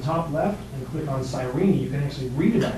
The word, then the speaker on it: Cyrene: now he came from a city that is pronounced Cyrene which is actually a very interesting little place